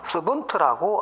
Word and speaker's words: savant: 우리가 일반적으로 이 석학이라는 단어가 불어로는 물론 스페링은 SAVANT라고 해서 불어는 사방이라고 발음할 수 있겠고, 영어로는 서번트라고 합니다.